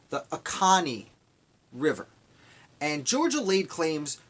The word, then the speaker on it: Oconee: let me pronounce it right. I want to read it to make sure it's right. The Oconee River.